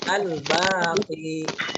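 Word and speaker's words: الباقي: Yang keempat, yang terakhir itu adalah Asmaul Husnanya Al-Baqi. Apa bacanya? Ya, Al-Baqi. Mbaknya panjang, ada alifnya. Ya, Al-Baqi.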